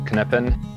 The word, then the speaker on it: Knippen: meaning of life so my name is knippen not a silent k I'm from Germantown Wisconsin attended the University of Wisconsin graduated in 2016.